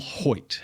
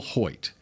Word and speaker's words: Hoecht: Number 97, Michael Hoyt. That's how you pronounce his last name. Good job. Because I would not have known. Hoecht. Michael Hoyt.